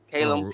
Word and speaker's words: Callum: Against Caleb Smith. Callum. Callum Did I say his name right? Oh yeah.